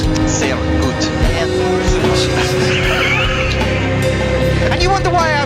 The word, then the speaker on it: sehr gut: How did you read that as Shergut? S-E-H-R. Shergut. Sehr gut.